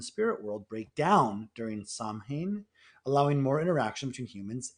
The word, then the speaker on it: Samhain: I'm gonna mispronounce it. It's called Samhain. Yes, that's correct.